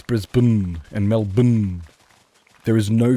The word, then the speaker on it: Brisbane: There is no annunciation of anything in between those the the thing before the N. All of that stuff is absent. It is just it's it's kind of Yeah, it's Brisb Melb.